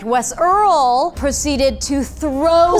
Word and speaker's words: Wes IRL: of Gang Beasts that Wes IRL said that his controller was not working. I believe it's pronounced Wes Earl. Wes Earl, I'm so sorry, yeah. Your Honor, you're absolutely correct. Wes Earl proceeded to throw said